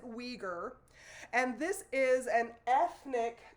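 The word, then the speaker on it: Uyghur: terms are correct but you pronounce it weager and this is an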